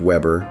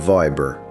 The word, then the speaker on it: Weber: Some became weavers, others kept Weber but pronounced it Weber instead of Viber.